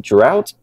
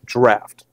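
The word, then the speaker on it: Draught: grip and leverage so what's the difference between drought and extra Stout so believe it or not it's actually pronounced draft that's because this style of Guinness is meant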